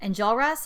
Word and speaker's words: Enjolras: The first time I saw Joe sitting at that table as Enjolras, is that how you say it?